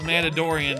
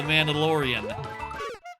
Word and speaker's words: Mandalorian: I sometimes call it The Mandaladorian because I think it's funny to mispronounce the the name of the show. Don't worry about it. But I'm doing it on purpose. I know it's called The Mandalorian.